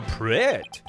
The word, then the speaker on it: prête: Je suis prête. You pronounce the T in that, right? And the accent means you go prête.